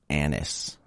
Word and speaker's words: anise: It's called, I believe this is pronounced anise, A-N-I-S-E.